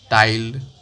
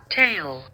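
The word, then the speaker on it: taille: These included a direct tax called tile. Let's search that pronunciate. Tile tail. Tail. Okay. It's tail actually.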